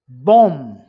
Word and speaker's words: bomb: Bomb, B silent.